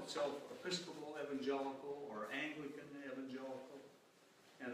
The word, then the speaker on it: Evangelical: And in their heyday, the Virginia churchmen had many shibboleths, and one was that their name should be pronounced with a long E, Evangelical.